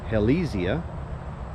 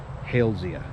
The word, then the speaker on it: Halesia: Some people pronounce it Halesia. However, the genus was named after a famous botanist with the last name Hales, so it should be more properly pronounced Halesia.